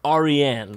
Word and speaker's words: Aryan: And it is a Persian name. It's pronounced Aryan.